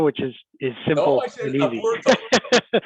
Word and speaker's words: Aburto: Aburto? People typically say Roberto Aburto, which is simple and easy. Aburto. Aburto is the Spanish pronunciation, but Roberto Aburto is the normal.